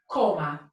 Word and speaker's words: coma: Colbert in Spanish and this is pronounced coma coma right coma so that is my